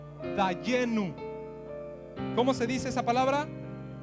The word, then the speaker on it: dayenu: van a conocer y se dice en hebreo dayenu Cómo se dice esa